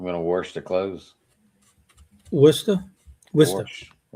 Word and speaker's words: Worcester: But um even like cities like um if you look at it, you you'd think it would be Warchester and it's Worcester out there or um just the way they pronounce things are kind of Well, it's Bostonish, you know.